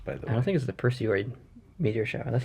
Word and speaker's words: Perseid: like August 2nd maybe it's not the Percy way that doesn't rhyme with hemorrhoid it's the Perseid Larry the hemorrhoid show